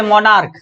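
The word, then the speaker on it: monarch: जब मतलब उच्चारण करके देखेंगे, जब हमारे पास अंतिम में को आए, स्टोमिक, ठीक है, तो जैसे यहाँ पे मोनार्क, ठीक है, मोनार्क, इसको मोनार्क नहीं पढ़ेंगे, मोनार्क पढ़ेंगे।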